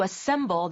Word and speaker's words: assemble: 계신 단어이면 틀림이 없는데 발음하실 때 assemble 하시면 잘 못 알아듣고 assemble 네. 이렇게 돼야 되더라고요. 액센트가 딱 중간에 있죠.